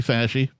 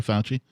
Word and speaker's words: Fauci: than uh somebody leaked some emails from anthony fashion i'm sorry fauci i keep saying it right yeah sure anthony